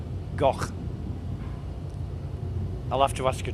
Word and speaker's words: Gogh: I don't even know why they call it Van Gogh. Because I think the way the Dutch pronounce his name is like cock with G. Goch.